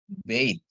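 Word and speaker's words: בית: Bay dengan akhiran tab dia jadi bacanya bait ya.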